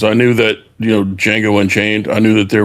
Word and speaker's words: Django: And that's where in Django Unchained he runs into the guy at the bar and he asked him to spell Django and says the D is silent and the guy's like, "I know."